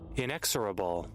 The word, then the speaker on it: inexorable: Inexurable. Inexurable. So, I was pronouncing it wrong, too.